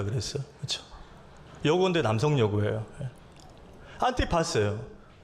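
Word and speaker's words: Ἀντιπᾶς: 오늘 안디바요.이 안디바가 원어로 발음하면 이렇습니다. 안티파스예요.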